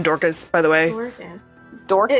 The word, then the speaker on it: Dorcas: And can we just talk about this name, Dorcas, by the way? Dorcas? It's spelled D-O-R-C-A. She sounds like Orca. It sounds like Dorcas, which is D-O-R-K-U-S.